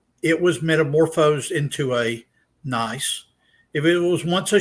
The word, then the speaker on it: gneiss: remember from earth science is a rock like gneiss, the G is silent, schist, got to be careful when you pronounce that in English, and also over here, I can move it, marble.